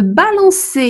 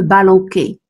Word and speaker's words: balançais: Je dis « je me balançais », il ne faut pas oublier de mettre la cédille sur le « c », sinon on prononcera autrement « je me balanquais ».